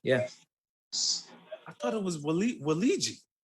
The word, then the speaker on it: Waluigi: So he does Luigi, Waluigi, Wario, Mario.